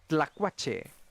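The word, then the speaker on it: tlacuache: for for uh possum it's la quache so it has a similar vibe but that beginning part is very like you're pronouncing like a t uh l a kind of sound like together like you barely really hear the t um i love those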